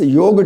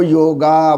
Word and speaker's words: योग: हम सब इसको जो है वो योगा बोलते हैं, राइट और रॉन्ग, राइट। ये संस्कृत का वर्ड है, इसे बोलते हैं योग, क्या बोलते हैं, राइट, योग।